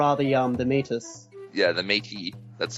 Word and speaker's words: Métis: Yeah, the Métis. That's how you Oh, pronounce the it, by the way. Métis.